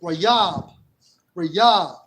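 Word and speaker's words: ריב: All right, and it's pronounced as Rayab, and it means strife, dispute, quarrel, dispute, controversy, case at law.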